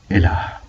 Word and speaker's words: Elah: Jesus, peace be upon him, spoke Aramaic and called God Elah, which is pronounced same as Allah.